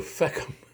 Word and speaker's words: Feckham: Feckham. And to feck in Irish is the way you say F-U-C-K. Feck it. The feckin' bastard. So Feckham, which rhymes with Peckham, which is a real place.